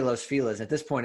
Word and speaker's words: Los Feliz: So I now pronounce that Los Feliz, which is the proper way to pronounce it, because I would pronounce it wrong.